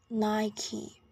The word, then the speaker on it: Nike: Nike and both American in British English it's pronounced as Nike remember this dress is on the first syllable